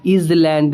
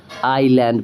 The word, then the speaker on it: island: Rule क्या कहता है कि अगर आप ये देखो कि एस जो है वो आई और एल के बीच में है तो वहाँ पे उस एस को मत प्रोनाउंस करना। तो यहाँ पे हम इसे क्या, इज़लैंड नहीं पढ़ेंगे, हम इसे क्या पढ़ेंगे, आईलैंड पढ़ेंगे।